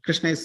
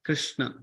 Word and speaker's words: Krishna: it can be pronounced Krishna okay and if you write krsna you can pronounce as Krishna okay you see like